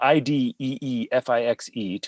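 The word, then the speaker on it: idée fixe: It's spelled IDEEFIXE.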